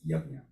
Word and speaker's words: Yajna: But so this is also very important because we had a couple of discussions about, how to pronounce this Jnya, it is Yajna.